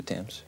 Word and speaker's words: Thames: down on the waterfront the Thames River yeah hey you pronounce it the temps yeah and I'm down